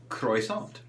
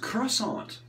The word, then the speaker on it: croissant: pigs go ack because oink is spelled with an o i which makes an oi sound croissant being spelt with